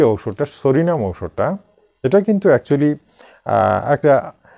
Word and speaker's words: Psorinum: আমি প্রত্যেক দিনের মতো আজকেও একটা নতুন ঔষধ বেছে নিয়েছি, সেই ঔষধটির নামটা আগেই বলে দিই, সরিনাম, ইংরেজিতে PSORINUM, সরিনাম, এটার উচ্চারণ হচ্ছে সরিনাম।